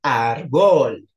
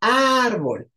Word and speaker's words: árbol: palabras graves árbol árbol vean que no decimos árbol es árbol entonces Bol es la última ar es la penúltima calis calis lo mismo